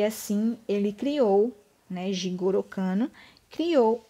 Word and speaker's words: Jigoro Kano: física jigoro kano é o que que se pronuncia assim jigoro kano ele estudou o jiu jitsu e verificou né